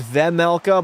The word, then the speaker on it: Vejmelka: I know somebody told me it was Vemelka, but I don't like the way that sounds. I think Vejmelka sounds better, so fuck it.